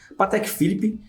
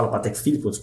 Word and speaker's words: Patek Philippe: Some say "Patek Philippe", others say "Patêk Filíp", but I'll say it my way here.